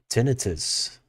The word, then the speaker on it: tinnitus: Uh, Tinnitus, or tinnitus, if you prefer to pronounce it that way.